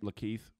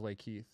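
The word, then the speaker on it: LaKeith: pronounce that but uh is that how you say his name Le Keith it's the Keith Oh I thought it was Lake Keith Stanfield so it's like Keith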